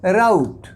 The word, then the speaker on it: rout: और देखिए इसका प्रोनाउंसिएशन जो है बिल्कुल बदल जाता है, यह बन जाता है राउट।